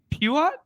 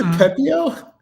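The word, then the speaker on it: Pepiot: How do you say it? I said Pepio. Puat. But what did I say? Puat? It's not even close. Pepio. It's not even phonetic.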